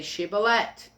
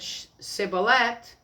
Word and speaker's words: Shibboleth: If he said no, then they said, "Very well, say Shibboleth." If anyone said Sibboleth, because he could not pronounce it, then they would seize him and kill him by the fords of the Jordan.